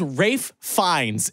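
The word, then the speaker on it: Ralph Fiennes: up yeah Rafe yeah his name is Rafe finds and if you look it up that's you're gonna be like huh that's how you say it look here's another thing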